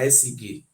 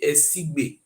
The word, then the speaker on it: Esigbe: They get what they call Oba Esige. What he write for here? He said the spelling is called not be Esige, Esigbe. ESIGB, not be SCG. Esigbe, na be the correct pronunciation.